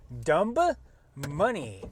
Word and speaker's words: Dumb Money: Sloan's Lake after watching Dumb Money. The B is silent for most people, but not for my husband. Not for people who know what's going on.